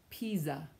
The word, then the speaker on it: Pisa: S between 2 vowels sounds like a Z.